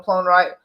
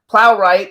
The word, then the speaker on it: Plowright: did with me and Pharaoh Natasha Richardson Joan plone right plowright and Jim Broadbent and then you did a